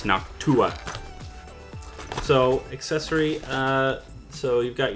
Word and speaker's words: Noctua: It's actually Noctua. I've been saying Noctua. It's Noctua.